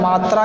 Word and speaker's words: मातृ: का अर्थ होता है मात्रा या नापतोल। आगे देखिए, मात्र जिसका अर्थ होता है केवल, एक होता है मातृ, उच्चारण भी अलग अलग है। मात्र, मातृ, मात्र का अर्थ होता है